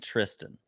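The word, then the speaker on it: Thriston: you might have trist it's like thristan it's spelled spelled trist but I mean everybody was saying Tristan it's like a silent h you don't get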